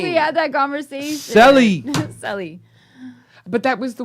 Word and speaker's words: Celli: It's Celli. Okay, not Sealy, like Sealy Posturepedic, and that's the way I was remembering.